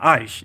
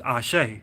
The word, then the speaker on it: Ashe: They call it Ashe, you know, not Aish, it's Ashe.